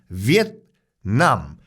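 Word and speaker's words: Việt Nam: 받고 있는 나라도 없습니다 일단은 발음 자체가 베트남이 아니에요 원래 정식 부부는 위엔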